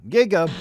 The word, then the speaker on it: Giga: Giga kinda rhymes with Gaga, and describing the author of this fantastic idea as Gaga wouldn't be an understatement.